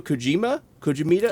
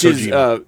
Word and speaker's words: Kojima: And this is from the game Death Stranding by, I'm going to say Hideo Kojimita? Yes. Which Kojima.